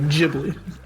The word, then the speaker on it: Ghibli: English can get is like Ghibli.